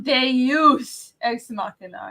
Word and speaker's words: Deus ex machina: And I will pronounce it right from now on. Deus ex machina.